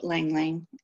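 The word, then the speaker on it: ylang-ylang: I love Lang Lang. I think that's how you say it, right? It is, I used to hate the smell of it.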